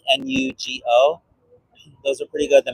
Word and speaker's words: NuGo: But I do like protein bars from this company called, I think it's pronounced Nugo, like Nugo.